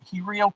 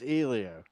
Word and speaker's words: Helio: it piss you off I don't think either one of us pronounced it right so I think it's he Leo it's ELO how did you get an e out of H that's not even Spanish I'm my wife says it's Elio oh my God I'm